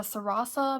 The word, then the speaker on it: Sarasa: I think, and I've been using the Zebra Sarasa, I believe is how you say it, one of the vintage collections that you can get on Amazon.